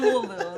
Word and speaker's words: Louisville: I'm from Louisville. Like, how you say it right? Like, I'm from Louisville.